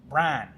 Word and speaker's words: Brian: realize until I moved here and went back that in the South, my name has one syllable, Brian. Brown. It's Brown. Brian, like a Bran. Brian. Like bran flakes?